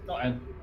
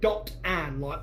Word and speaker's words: Dotan: Yeah, Dotton. Dotan. She's Right. from South Ravensclaw, so. Is it Dotton or is it Dot Ann, like Dorothy Ann? Don't even Dot. pronounce the T. Don't even pronounce the T's.